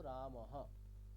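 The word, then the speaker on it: রামঃ: প ফ বটাই তো বিসর্গের উচ্চারণ কেমন করা হবে তাহলে বিসর্গ ইকুয়ালটু আমাদের কাছে আজ থেকে হ যেখানে যেখানে বিসর্গ দেখবো সেখানে আমরা কেমন উচ্চারণ করবো হ রাম বিসর্গ আছে তাহলে কেমন করবো রাম হ একটা জিনিস খেয়াল করে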